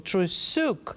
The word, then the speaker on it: Trusyuk: But for some reason, name was difficult for Jill to remember her last name, probably because the emphasis goes on the last syllable, Trusyuk.